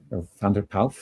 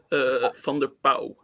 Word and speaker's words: van der Pauw: Van der Pauw? Van der Pauw. Van der Pauw. You don't pronounce the W at the end? No, not in this not in this case.